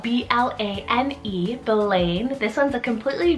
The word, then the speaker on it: Blane: son rey i have the name blaine spelt b-l-a-n-e blane this one's a completely genderless scottish name